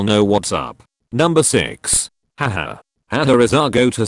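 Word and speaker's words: ห้า: each language of course has different ways of expressing and typing this aha sound for instance Spanish will be je jure in Thailand the number 5 is pronounced ha so they will often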